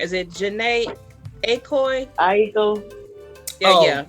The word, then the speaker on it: Aiko: Aiko.